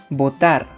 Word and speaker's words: botar: When spelling words, the consonants B and V will not be pronounced the same way, but when pronouncing words, the sound will be the same. For example, votar and votar.